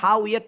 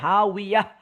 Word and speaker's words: هاوية: গোল, এই নর্মাল তা, এটা যদি আসতো তাহলে হা উইয়াত পড়া লাগতো। যেহেতু এখানে গোল তা আসছে, এই জন্য আমরা হা উইয়াত না পড়ে হা উইয়াহ, হায়ের মতন একটা উচ্চারণ পড়বো। এটা গ্রামার।